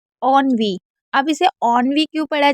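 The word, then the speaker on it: ennui: बहुत ही इजी है, बस आप यहाँ पर लास्ट वाले ई को साइलेंट रखिएगा। उसके बाद है ऑनवी। अब इसे ऑनवी क्यों पढ़ा जा रहा है?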